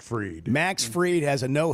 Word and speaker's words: Fried: Max spelled Fried Pronounced Freed.